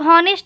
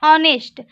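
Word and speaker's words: honest: इसे हम लोग हॉनेस्ट नहीं ऑनेस्ट पढ़ेंगे, इसका प्रोनाउंसिएशन क्या होता है, ऑनेस्ट।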